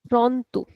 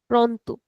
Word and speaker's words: pronto: this is also pr so it's a soft sound pronto pronto so all these words you can see that the letter r is coming after a consonant. So here we are pronouncing the letter R as a very mild as a very soft sound.